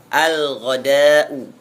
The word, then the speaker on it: الغداء: Apabila alif lam masuk bertemu dengan ghain, maka alif lamnya terbaca dengan sempurna. Al-ghada'u.